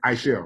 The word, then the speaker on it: Aichelle: say it right, Aichelle, right?